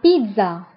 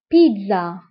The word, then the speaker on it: pizza: البيتزا فهي la pizza. La pizza. La pizza. فانتبهوا بالنسبة لا بيتزا بالفرنسية فكنطقو لتر دي مع انه ما مكتوبش. دونك لا بيتزا. الوغ هنا كنطقو لتر دي.